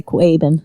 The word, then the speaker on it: Quabbin: Well, I always pronounce it in a Massachusetts way and say Quabbin.